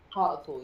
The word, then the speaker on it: Hartlepool: Hartlepool, yeah.